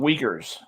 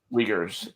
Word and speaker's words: Uyghur: They're called Uyghurs. Really? Uyghurs is how my anthropology professor used to pronounce it.